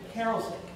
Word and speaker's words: Karasik: All right, and then our next speaker will be a sophomore accounting major from Stratford, Connecticut, David Karasik. Did I pronounce that correctly?